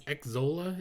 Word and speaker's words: Xsolla: the gaming payment processor, I think it's Xzolla is how it's pronounced, XSOLLA.